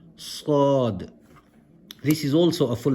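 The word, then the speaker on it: صاد: So you pronounce the letter as if your mouth is full. Sad.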